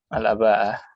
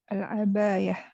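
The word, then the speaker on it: العباءة: Al-abaya. Al-aba'ah gitu. Oh, al-aba'ah. Tapi kok bacanya al-abaya ya? Memang orang Saudi itu pengucapan sehari-harinya banyak mengganti hamzah ke iya.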